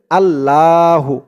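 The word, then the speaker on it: اللهُ: অনেকে বলে আল্লাহু। আল্লাহ বললে আল্লাহ শব্দের উচ্চারণটা শুদ্ধ হয় না, বলতে হবে আল্লাহু।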